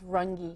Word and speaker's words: Runge: You know, you and I are friends, and I have a feeling I'm pronouncing your your name, your last name incorrectly. Am I? It's Rangi.